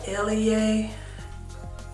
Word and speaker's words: Eleyae: line cap by grace i guess it's pronounced uh elie uh yeah show that